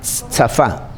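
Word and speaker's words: צפה: Vigilar viene del hebreo tsafa, T-S-A-F-A con tilde en la tsafa. El hebreo, yo no sé, yo sé en la casa pronunciar la T, tsafa, T-S-A-F-A.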